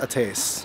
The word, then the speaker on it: Ates: check out eight or ate or eight it's pronounced a taste we're gonna get coffee and then yeah we're